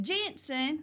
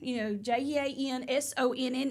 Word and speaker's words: Jenson: I was saying it Janson, Jansonne is how you spell it. But when you hear him say it, he says, "I'm Justin Janson." And I'm like, okay, well, that's interesting. But yeah, it's more like John. It's like Johnson.